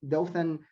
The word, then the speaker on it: Dothan: He joined in 2011 the Dothan, is that correct? Am I pronouncing that correctly? Yes, Dothan Perfect.